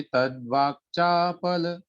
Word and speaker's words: तद्वाक्चापल: है ना, तद्वाक में क को पूरा नहीं पढ़ना है, आधा है वो, इसलिए तद्वाक्चापल ऐसा।